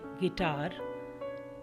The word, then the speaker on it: guitar: जब UI एक साथ आते हैं तब उनका उच्चारण ई हो जाता है। GUITAR गिटार बजाने का वादन, GUILT गिल्ट अपराध, BISCUIT बिस्किट।